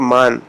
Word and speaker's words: من: انگریزی کے حروف ہیں۔ مثال دیکھتے ہیں ہم، من کا لفظ ہے، ہم کہتے ہیں من، جب فارسی میں اس کو بولیں گے تو مان، اردو تلفظ میں اس کو من کہہ دیتے ہیں، لیکن فارسی میں ذرا بولیں گے تو تھوڑا کھول کے مان۔ اردو میں سگ استعمال